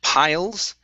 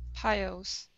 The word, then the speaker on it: piles: um uh piles okay give me a good l here pile piles piles okay now reach up touch the top of your mouth with your tongue pie piles pile piles there you go that's it piles good piles piles okay